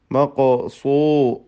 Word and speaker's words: مقصورات: മഖോ, ഖാഫിൻ്റെ സുക്കൂൻ ഖൽഖല നൽകി ശബ്ദം ചലിപ്പിക്കുക. മഖോ സൂ സ്വാദ്, പിന്നീട് റാ അലിഫ് ഇതൊക്കെ തഫ്ഖീം ചെയ്യേണ്ട അക്ഷരങ്ങളാണ്.